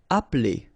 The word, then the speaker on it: appeler: Appeler, all right? So the funny thing here is that you don't really insist on this E, okay?